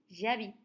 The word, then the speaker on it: j'habite: avec H et ce cette lettre n'est pas prononcé et alors on a le son a c'est une voyelle il faut mettre dans ce cas-là j apostrophe et on prononce j'habite je viens de Belgique